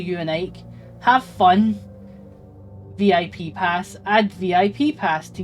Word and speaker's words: VIP: He pronounces the acronym as a word rhyming with zip, so he says VIP. Yeah, what's VIP?